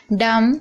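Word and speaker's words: dumb: थंब यहां पर भी आप देख रहे हैं एम के बाद बी है तो बी साइलेंट है। डम यहां पर भी आप देख रहे हैं एम के बाद बी है तो बी साइलेंट है।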